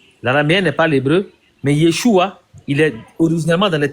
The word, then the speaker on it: Yeshua: Ça fait que Yeshua qui correspond à Josué, la lettre finale, elle est prononcée et pour être le plus fidèle possible au mot.